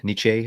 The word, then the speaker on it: Nietzsche: Nietzsche, I think it's pronounced.